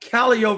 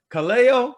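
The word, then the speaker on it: Callao: because it's world renowned it's a place called calio virginia c-a-l-l-a-o now people look at it and they say kaleo i say oh no that's that's not how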